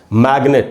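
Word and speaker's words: magnet: तो दोस्तों अब ये वर्ड देखिए आप, मैग्नेट, अब यहाँ पर भी एन के पहले जी है लेकिन ये साइलेंट है, यहाँ पर जी का उच्चारण हो रहा है, ग बना मैग्नेट।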